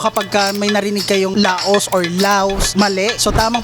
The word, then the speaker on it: Laos: Ang tamang pagbigkas sa laos is law. So silent S. So kapagka may narinig kayong laos law, mali.